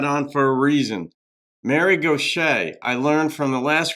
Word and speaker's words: Gauthier: was pronouncing it um Gothier and I learned that in Louisiana, southern Louisiana, it's pronounced Gocha.